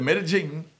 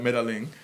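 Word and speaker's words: Medellín: That's when the Medellin, as my man Johnny the Connect taught me to pronounce it, because Machatin on Jamaica, some of us call it Medellin.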